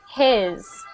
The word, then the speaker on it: his: Now this one is very commonly mispronounced because people say he's and he's, but they should be he's and his.